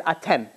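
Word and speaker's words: אתם: the holidays, it says, otam, them, these holidays. But the word otam is written three times without the letter vav, spelling and pronouncing it as atem, which means you.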